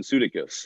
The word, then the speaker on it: Sudeikis: I was just like, my name's actually pronounced Jason Sudeikis. At least that's how my dad says it.